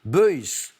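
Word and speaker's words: Beuys: pas de problème et boys behe y y s je crois qu'on dit plutôt boys effectivement on le sera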